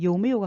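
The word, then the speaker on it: 有没有: 그런데 요메요 같은 경우는 메이는 경성으로 사용하지 않습니다. 그대로 자기 소리를 내주면 됩니다.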